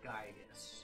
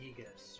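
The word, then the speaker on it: Giygas: Like if you let it sit and go to the title, it shows Earthbound, the war on Gygus or Yegus or Yegus. I've heard it pronounced a bunch of different ways.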